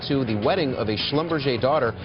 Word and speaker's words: Schlumberger: the wedding of a schlumberg daughter I didn't realize that was how you pronounced it I thought it was Schlumberger and when I showed